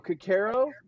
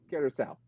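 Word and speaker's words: Curaçao: Curacao always gets said wrong. They always go Cacaro. I was like, no, it's Curacao.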